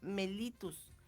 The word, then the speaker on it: mellitus: ahí está la diabetes se le llama diabetes mellitus este está correctamente pronunciado y así es la diabetes mellitus mellitus